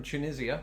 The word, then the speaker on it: Tunisia: one they may not know this one tunisia tunisia if there is anybody watching from tunisia or tunisia let us know which is closest to your pronunciation well i think i know who's going